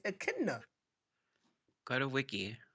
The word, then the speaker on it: echidna: An Echidna.